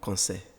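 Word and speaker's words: Konsé: Nous allons parler du prénom Concet.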